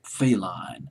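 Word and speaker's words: Velline: the label excuse me his real name is Robert feline it's feline is Fe e l l i n e but I'll just call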